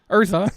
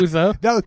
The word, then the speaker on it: Urza: Urza, not Uza. That was my mispronunciation when we did the Dominaria show.